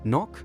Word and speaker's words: knock: When we knock, that silent K is like a secret invitation to enter.